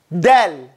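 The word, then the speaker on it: دال: DAAL.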